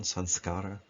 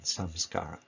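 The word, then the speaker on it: saṃskāra: Now, sanskara or samskara, which might be pronounced with the two different ways, with the ma glossed to an N sound in the first pronunciation, sanskara, and then in the second pronunciation, samskara.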